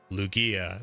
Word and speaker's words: Lugia: But I keep asking people and I say, I'm going to say this Pokemon's name and I want you to tell me if I'm saying it wrong. Lugia. They're like, that's how I say it.